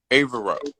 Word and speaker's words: Avero: How do you say your name? Avero. Avero. Okay, so I thought I was right, but I kept saying Avery, and I was.